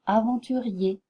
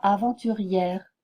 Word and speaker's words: aventurier: r en position finale cette graphie se prononce e projet danger cahier marcher aventurier faites attention à bien prononcer aventurier et non aventurière si vous prononciez aventurière